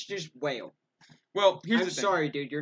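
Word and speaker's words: Wale: I think it's still supposed to be pronounced whale. That's because like the only way to make that Wall is put like the accent mark above the E. Yeah. Other than that, it's just whale.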